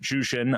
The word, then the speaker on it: Jushin: Uh it his first name is uh pronounced Jushin, uh spelled J uh H I N.